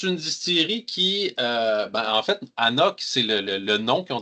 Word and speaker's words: anCnoc: Si vous regardez un peu comment ça s'écrit, là, ça s'écrit avec un C dans le milieu, hein, à ne pas prononcer les C comme ça. Et on le dit sur l'étiquette aussi, là, pronounce A-NOK. Ne pas prononcer Anknok.